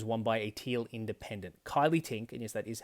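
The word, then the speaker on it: Kylea Tink: Now, it's important to remember that in 2022, North Sydney was won by a Teal Independent, Kylie Tink, and yes, that is how you pronounce that, beat Trent Zimmerman to take the seat away from the Liberal Party.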